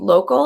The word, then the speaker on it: Lokal: I know that there's, just really quickly, there's a great site called Local, and I think it's spelled LOKAL, that also helps with some of